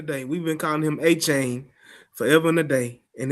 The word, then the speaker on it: Achane: Devon Achane is, if we said his name wrong forever and a day, we've been calling him Achane forever and a day, and his name is Achane.